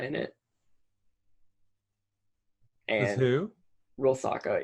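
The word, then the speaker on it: Rusalka: Rilsaka, it's a mythological creature that's like a drowned woman. Oh, I hadn't heard it with that pronunciation. I was right. I always heard it as Riskolka.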